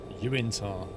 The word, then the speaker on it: Uinta: Uintar. Oh, is that how they pronounce it? Uintar. Interesting. I didn't know if you'd done a typo or not. Because it looks like the word Utah, but they've stuck in the middle.